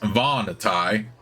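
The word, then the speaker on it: Vahnatai: interesting on the vanai people the voni pr pronounced vanai are a very interesting race only recently discovered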